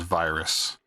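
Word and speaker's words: VYRS: Uh it's V Y RS. Uh, it's pronounced as virus vi.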